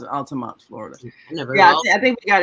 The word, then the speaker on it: Altamont: Yeah, we pronounce it Altamont, Florida.